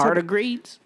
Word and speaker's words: tardigrades: Tardigrades? What is this, are you guys asking? What the fuck? What's that? Tardigrades? Yes, that's how you pronounce it.